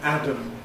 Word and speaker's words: Adam: And this is the first man, Adam and Eve.